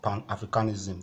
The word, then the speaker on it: Pan-Africanism: Pan-Africanism. The stress is still on the A, is still on the A part. Okay, the first syllable.